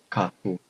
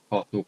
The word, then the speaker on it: Katu: It's called Katu Parfum. Katu Parfum.